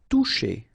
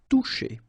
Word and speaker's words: toucher: Toucher. Okay, remember you combine this O and U, you get the sound OU, and then C and H, sh. Toucher.